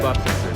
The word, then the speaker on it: Bebop: Cool, so we are now at Bebop, is that how you guys pronounce it? Bebop.